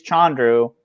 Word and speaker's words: Chandru: First off, with the Chance and Chandru, like yeah, especially if it is the correct pronunciation is Chandru, like that means they both don't start with Chan, Leo.